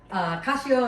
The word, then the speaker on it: cacio: Yeah, cacio and pepe.